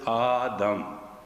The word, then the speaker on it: Adam: was going on between adam and eve and everything grew out of it not wrong but your pronunciations are dying there is no word adam the word is aadam means come and means